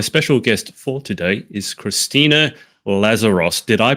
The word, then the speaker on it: Christina Lazaros: My special guest for today is Christina Lazaros. Did I pronounce that correctly?